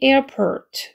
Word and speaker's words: airport: 그 다음에 air A에 일강세 있고 펄에 일강세가 있기 때문에 airport. 그래가지고 C 거꾸로 돌리는 거는 입모양 O 발음 어이기 때문에 ert 이렇게 되죠. airport, airport 이렇게 됩니다.